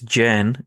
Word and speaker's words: Jain: Do you say Jane or Hain? It's Jen is the correct way to say it.